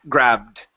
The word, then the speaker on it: grabbed: So, instead of gray, if this was gray, we would not have a double B. We have a double consonant. Okay. And an ed ending, the vowel here is not a long sound. So, this is going to be the short.